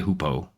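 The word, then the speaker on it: hoopoe: So, this one's going to be a hoopo. It's spelled H O O P O E.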